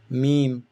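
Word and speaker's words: م: Meme, like M in English, meme.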